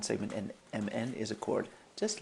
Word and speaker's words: chord: A chord, okay, spelled like chord, but a chord, just like on a guitar or a piano, is a line segment